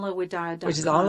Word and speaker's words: Widad: That is, Camela is spelled exactly like Pamela with a C. So it's Camela. And my spiritual name, Widad, Widad.